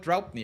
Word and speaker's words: Draupnir: People Some people criticize me for the name because they can't pronounce it, but it's called Draupnir.